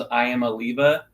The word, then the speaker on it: Iamaleava: I did see a bunch of Tennessee fans once he left said his last name was Iamaleava. Yep.